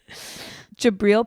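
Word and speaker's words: Jabrill: in two of those jabriel Peppers that's how you say it yeah jabril Peppers jabril Peppers came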